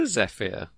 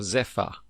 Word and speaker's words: zephyr: It is a zeia or zepha.